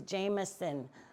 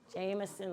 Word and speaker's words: Jemison: Now you see how her name is spelled Jon. J E M I S O N. When they were here in this county, it was Jameson like the whiskey. Jameson like the whiskey.